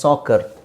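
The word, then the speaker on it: soccer: ಉಚ್ಚಾರಣೆ ಕ ಅಂತಾನೆ ಇರುತ್ತೆ ಉದಾಹರಣೆಗೆ ಸಾಕರ್ ಸಾಕರ್ ಇದನ್ನ ಸಾಸರ್ ಅಂತ ಹೇಳಲ್ಲ ಸಾಕರ್ ಅಂತ ಹೇಳ್ತಿವಿ ಆಮೇಲೆ ಇನ್ನು ಒಂದಷ್ಟು ಎಕ್ಸಾಂಪಲ್ಸ್ ನಾನು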